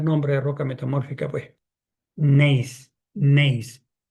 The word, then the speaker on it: gneiss: Si usted tiene en la catazona, una roca ya metamórfica, voy a poner el primer nombre de roca metamórfica, pues, gneiss, gneiss. Gneiss se escribe G de gato, G-N-E-I-S, G-N-E-I-S, gneiss, gneiss.